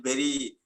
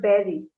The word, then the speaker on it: very: that time I feel very happy on that moment. It is very and not berry. Mhm. Okay. Yeah, it's like try to say very, don't say berry.